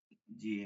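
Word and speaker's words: زاي: জাল জাল র যা এই যে ঝে হবে না ঠিক আছে এই যে যেটা পড়তেছেন এটা উর্দুতে জে এটা হবে জা যা আরবিতে সব ফাত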